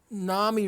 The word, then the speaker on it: NAMI: token psychiatrists was basically Nami rhymes with Mommy because the vast majority